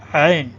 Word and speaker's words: عین: عین پڑھیں گے، جو آواز ہے، تلفظ ہے، جو یہاں سے نکلتا ہے، تو عین آپ پڑھیں. این نہیں ہوتا، این نہیں ہوتا. این تو الف یا حمزہ کی آواز ہوتی ہے.